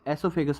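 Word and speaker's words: oesophagus: food pipe और ऐसोफेगास इसे ऐसोफेगास पढ़ने हैं ओ इसमें साइलेंट होता है थर्ड है स्टमक और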